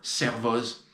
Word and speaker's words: Servoz: Comme toute règle parfaite, il y a quelques exceptions. Aix-les-Bains, Servoz. Voilà.